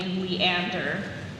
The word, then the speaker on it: Leander: Is there any alternate pronunciations? I see only leander.